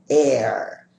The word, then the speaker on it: heir: Um outro exemplo, air. A palavra a significa herdeiro, uma pessoa que herda dinheiro de outras pessoas. Na frente dela, como não pronunciamos o H, utilizaremos o artigo an.